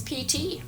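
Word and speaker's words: Piti: Dakota and this is PT PT is eight um his name is a poly word meaning it's spelled Pi TI it means brightening in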